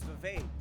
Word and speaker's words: Vivek: My name is Vivek. It rhymes with cake.